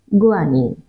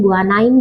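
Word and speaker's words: guanine: एडेनिन, और 5वां हुआ गुआनिन। प्रोनाउंसिएशन का अंतर है, एडिनाइन भी पढ़ते हैं, गुआनाइन भी पढ़ते हैं, और मतलब आप थाइमाइन भी पढ़ते हैं कुछ लोग, तो ये प्रोनाउंसिएशन का डिफरेंस है। इन जनरली क्या होता है,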